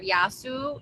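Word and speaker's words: γεια σου: we literally shorten the word yasu. So yasu means hello and goodbye, and we just say ya. So yasu spelled like with a in English as a ya.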